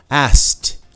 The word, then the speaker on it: asked: I missed you, asked, só que várias vezes você nem pronuncia esse K, asked, I asked him to come, helped, he helped me, He helped me.